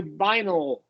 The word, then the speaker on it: vinyl: functions as a schwa, and that's a long I vinyl.